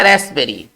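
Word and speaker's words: raspberry: जो इंग्लिश होता है इसमें पीस साइलेंट होता है पी को नहीं पढ़ते हैं देखिए ये हमारा रास्पबेरी ठीक है ना इसके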